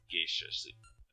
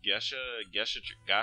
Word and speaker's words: Gasha: Maple randomly, or a geisha. How the fuck do I pronounce that? Gasha tree? There we go, it's Gasha tree.